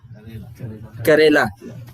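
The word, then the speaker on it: کریلا: But I put some karele in front of you. I don't know if you know what karele is. Bitter what? Bitter melon. Bitter melon? What's the Sahih pronunciation in the Urdu language? Karela.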